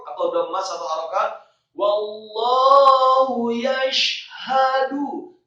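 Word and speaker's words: يَشْهَدُ: Wallahu yashhadu, kata yashhadu, syaknya tafkhim tebal, tetapi membaca huruf syak dengan bibir yang tidak ditutup, tidak yashhadu, tetapi wallahu yashhadu, haknya tafkhim atau tebal satu harokat fathah, kemudian dalnya marfu atau dhamma satu harokat.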